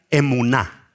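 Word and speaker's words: אמונה: Amén tiene la misma raíz hebrea de una palabra que se pronuncia emuná. Diga conmigo emuná.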